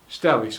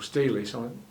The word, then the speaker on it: Stelis: was several people showing Stelis or Stelis. I tend to pronounce it Stelis with a single L, and their flowers are almost microscopic.